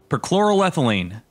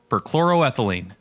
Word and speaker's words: perchloroethylene: Perchloroethylene. That's how you say it. Perchloroethylene.